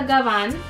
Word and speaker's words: gabán: This is a gabán. That's how you say it in Spanish and in English.